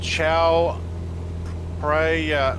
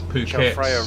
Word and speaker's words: Chao Phraya: The Chao Phraya River. That sounded like a pretty good attempt. Chao, yeah, Chao. No, Phraya. There's a PH. Phraya. But is Phraya. it? Because Chao Phraya River.